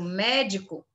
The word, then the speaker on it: médico: E se fosse a antepenúltima, que no caso médico, ela seria proparoxítono.